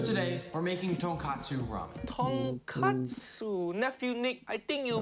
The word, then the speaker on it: tonkatsu: So tonkatsu ramen makes sense. It pork bone ramen. But katsu mean cutlet. So tonkatsu mean fried piece of pork.